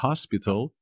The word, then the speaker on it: hospital: en español como Hey hospital pero en español la H nunca se pronuncia nunca no nunca O sea